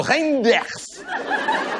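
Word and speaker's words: Reynders: Non monsieur Reinders, ça se prononce comme ça c'est'écrit.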